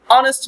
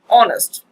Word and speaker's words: honest: example he is - honest man here the first letter H honest but H is not pronounced right there's why the